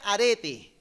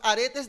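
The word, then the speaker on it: ἀρετή: qué este vocablo virtud en griego se pronuncia arete como los aretes de una mujer pero sin la s ok arete asimismo y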